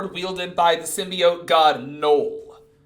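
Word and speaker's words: Knull: by the Symbiote God Knoll that's his name Noel yeah it's just a regular name yeah but it's spelled k-n-o-l s he's still just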